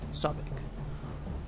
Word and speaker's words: Sobek: Puedes absorberlos gracias al medallón de gemas luminosas que te dio Sobek. O Sobek, como se pronuncia.